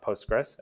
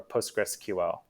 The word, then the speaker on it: Postgres: the spelling so the commonly accepted ways to pronounce post gross by the community are postgress as I've been saying or postgressql there I've heard things like post gray SQL